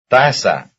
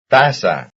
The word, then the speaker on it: taza: Taza. Taza. Taza, taza, that's the first syllable.